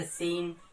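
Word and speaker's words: scene: अगर मैं बात करूं इसके अलावा भी हमारे पास वर्ड्स हो सकते हैं जैसे सीन, तो सीन में भी हमारा सी लेटर जो है वो साइलेंट है।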